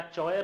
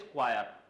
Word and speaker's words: choir: बोल ही नहीं रहे, प्रोनाउंसिएशन क्या है इसका, तुम बताओ, क्या चॉयर है, क्या क्वायर है, नहीं, प्रोनाउंसिएशन याद रखें, द प्रोनाउंसिएशन इज क्वायर। क्या बोलते हैं इसको, क्वायर, क्या बोलते हैं, क्वायर, नॉट चॉयर, नॉट क्वायर। ओके, समझ में आ रहा है, ध्यान रखें क्या है करेक्ट प्रोनाउंसिएशन, क्वायर।